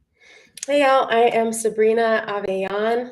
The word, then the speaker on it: Avellan: y'all i am sabrina aveon a lot of people pronounce it avalon but it's actually like you're yawning aveon um and it's just